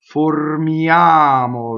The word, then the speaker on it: formiamo: Why do we know this is closed? Well, it's because the stress is on the A, right? Formiamo, right? That's where we're going. So both O's in this word are closed.